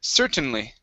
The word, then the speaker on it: certainly: The stress is at the very beginning. Certain, certainly.